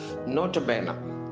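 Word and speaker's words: nota bene: இதனுடைய எக்ஸ்பேன்ஷன் என்னன்னா நோட்டபேனா. நோட்டபேனான்னு சொல்லுவாங்க, நோட்டபேனே என்று சொல்லுவாங்க, நோட்டபீனி அப்படின்னு சொல்லுவாங்க. இதனுடைய உச்சரிப்பு இப்படி ஒவ்வொரு மாதிரி இதனை உச்சரிப்பார்கள். ஜென்ரலான ப்ரொனன்சியேஷன் நோட்டபேன், அதை நாம் வைத்துக்கொள்ளலாம். இப்போ இது லாட்டினோட ஃப்ரேஸ்.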